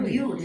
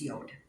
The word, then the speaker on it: Yod: But anyway, he said Yud, so I said Yud, and it wasn't Yud after all. When you read it how it's spelled, it's Yod. It is a Y, and it rhymes with mode, so that one is correct.